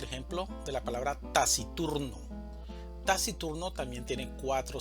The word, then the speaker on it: taciturno: Taciturno también tiene cuatro sílabas, una sílaba tónica y tres sílabas átonas. La mayor fuerza de voz la vamos a hacer en la sílaba tur, taciturno.